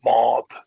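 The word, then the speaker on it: mbád: And if I say our sailboat, it's yet another change to our mod shoal.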